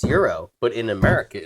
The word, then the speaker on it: gyro: at the front saying, "If you say gyro, you're getting kicked out." Right? There's that like a Walmart entry guy, right? That makes you come in and you say, it's euro. Dude, don't say it wrong.